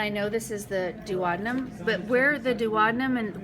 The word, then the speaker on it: duodenum: Now, if you guys want to pronounce that different than I'm doing it, that's fine. I've heard it duodenum, I just say duodenum.